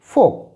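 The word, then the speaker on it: folk: will be काफ काफ यहां पर L silent होने की वजह से इसे हम पढ़ते हैं फोक फोक नेक्स्ट देखें जब के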